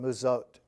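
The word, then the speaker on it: Muzot: Because he had gone from Castle Duino to this Swiss alpine hermitage called Musote, spelled M-U-Z-O-T, but pronounced Musote.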